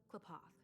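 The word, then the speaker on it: Qlipoth: They worship Klapoth, the Eon of Preservation. That's how you pronounce it.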